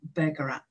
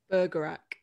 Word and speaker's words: Bergerac: So Bergerac. Bergerac. Right. I may have just butchered the pronoun.